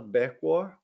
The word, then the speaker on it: Berquo: the mentorship program for internationally trained professionals becco is that how you pronounce beckwar yeah she is a manager at the canada's